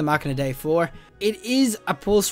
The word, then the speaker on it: Machina Dei: doing right now is the machina dei 4 or the machina day 4 I think I did a review on this before and I got the name wrong so it is the MOC in a day for it is a